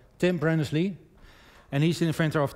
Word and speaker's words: Tim Berners-Lee: So as team Lee Brenner, well, I have to pronounce his name or correct, Tim Berners-Lee, and he's the inventor of the www protocol.